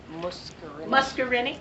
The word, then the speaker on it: muscarinic: I'm sorry how do you say that word muscarinic muscarinic you can give it a loan when